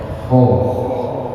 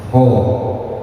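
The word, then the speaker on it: ح: Kalau kita mengucapnya ho, jangan berlebihan, jangan kebanyakan. Jangan mengucapnya ho, wah itu kebanyakan. Sedikit saja Pak, ho. Yang penting ada suara itunya, ho, ho. Sedikit saja, ya, jangan kebanyakan seperti tadi. Jangan ho. Nah, itu yang dengar aja udah. Ini orang mengucapkan ho atau membuang darah. Sedikit saja, ho, i, hu, seperti itu.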